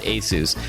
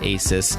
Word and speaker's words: ASUS: The company is pronounced ASUS, but if you want, you can call it ASUS, like all my friends do.